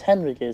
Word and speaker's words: Henrique: No, it's Henrique. So it's an H. The H is silent.